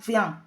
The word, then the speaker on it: vient: Es el sonido nasal que nos da unir las vocales I, E y a continuación una N. Todo ello hace el sonido vient.